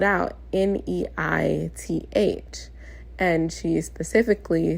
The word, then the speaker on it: Neith: saying her name is Neith, like Newton. She literally gave me that reference. Like Newton. Okay, Neith. But she spelled out n e i t h.